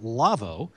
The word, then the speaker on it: Lawo: in part by the folks at lavoo lawo German company that makes audio consoles pronounced lavoo you'll find them on